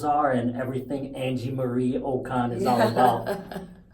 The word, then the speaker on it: Okon: Let's focus on the lady of the hour, Angie Marie Okon. Did I pronounce that?